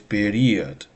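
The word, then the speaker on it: период: Uh In English you say period, right? The first syllable is stressed. In Russian is period.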